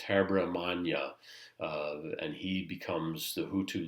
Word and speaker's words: Habyarimana: There's some settling with this gentleman, and his name is very difficult to pronounce, so you'll bear with me. But it's Habyarimana, and he becomes the Hutu leader and basically stabilizes the factions between Hutu and Tutsi within Rwanda.